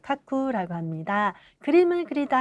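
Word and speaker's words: 描く: 자, 카쿠라고 일반적으로 발음하고요. 그리고 에가쿠라고 발음하는 방법도 있습니다.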